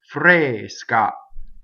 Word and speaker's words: fresca: Fresca. So the ska is considered a double consonant in Italian, so it's strong.